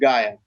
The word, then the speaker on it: Gaaja: Is known as Gaia. It is pronounced Gaia. It's spelled Gaaja. Pronounced Gaia. Well, we've been working on this blend for probably around 3.5 to 4 years.